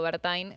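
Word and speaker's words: Werthein: ahora tiene a Gerardo Bertain, eh porque se pronuncia Bertein, yo sé que yo sé que en alemán dónde viene que sí, a ver, eh antes estaba Diana Mondino, ¿no?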